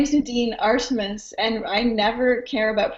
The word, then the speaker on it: Artemis: second names wrong oh my name is Nadine arsus and I never care about pronunciation good follow me whenever you want awesome